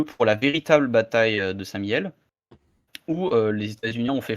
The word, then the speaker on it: Saint-Mihiel: Ah non, mais c'est C'est mon coin, c'est non, le non, lieu mais de naissance de mon paternel, alors Saint-Miel. c'est important de bien prononcer les choses.